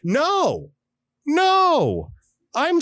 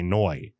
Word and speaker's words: Ngoy: I'm gonna go with the Vietnamese rule and say Noi.